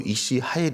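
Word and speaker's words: איש: 있었던 것입니다이 유력한 자는 히브리어로 이시 라고 발음하면서이 단어는 잠언에 보니까 31장에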